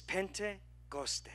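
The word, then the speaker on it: Πεντηκοστή: would be Greek the word Pentecost pronounced in the Greek is pentecoste almost sounds Hispanic but it's not pentecoste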